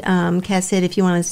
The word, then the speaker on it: chesed: The Hebrew, chesed, you know, your name.